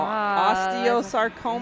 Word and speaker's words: osteosarcoma: 8-year-old Jace Lilly, who is battling, tell me how you say it now, osteosarcoma?